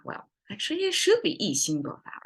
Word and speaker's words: 意兴勃发: Well, actually it should be 意兴勃发, right? 意兴勃发. Yes, it should be a flat tone here instead of a falling tone.